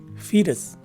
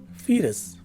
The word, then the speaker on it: fetus: at the phonetic spelling further you will see that the letter u takes a swa sound and the letter s at the end of the word is a regular sounding s so the right way to say this word is fetus again fetus this is the fifth